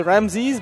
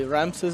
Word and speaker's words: Ramesses: Ramesses versus Biko and a lot of people say Ramses but it's actually wrong search yeah its actual name people yeah so you pronounce it the native way yeah humph says but we say Ramses all the time I Ramses is just doubt anglish good size yeah probably Ramesses is probably a better pronunciation but whatever I so what